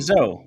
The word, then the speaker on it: Zoe: So, hi, I'm Zoe, rhymes with toe, a violinist, songwriter, and terrible cook.